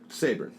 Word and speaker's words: Sabourin: Anyway, how do you pronounce your last name? Sabourin. Sabourin. Sabourin, Okay. yeah. Sabourin. So I say it. Sabourin.